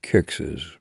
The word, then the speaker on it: Kicks's: Kicks's, pronounced just like Kicks.